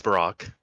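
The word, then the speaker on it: Barok: have a question yes have you guys been calling him barrack or baroque or barack apparently it's barack obama his name's dutch and uh also in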